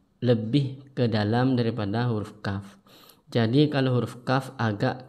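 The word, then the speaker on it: ك: Dan untuk perbedaan antara kaf dan qaf yaitu kalau huruf kaf ketika diucapkan itu harus berhembus atau berdesis. Kalau udah ngerti berdesis harus keluar angin ketika huruf kafnya diucapkan.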